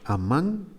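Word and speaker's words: אָמַן: Y Amán, pues ya lo habrá usted notado. Amán, que se escribe A, Mem y Nun. Si lo vocalizo como Amán, es un verbo. Él crió o él educó.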